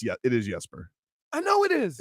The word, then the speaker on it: Jesper: well it's okay I didn't know how to pronounce boquest first name yesterday but by the way it's it is yesper I know it is it's the we call